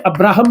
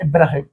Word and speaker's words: Abraham: अब्राहम या इब्राहिम। ठीक? Basically Christianity में जुडाइज में अब्राहम कह देते हैं। इस्लाम में इब्राहिम कह देते हैं। मतलब प्रोनाउंसिएशन का थोड़ा बहुत अंतर रखते हैं।